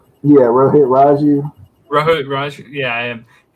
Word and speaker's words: Rohit Raju: Yeah, Rohit Raju.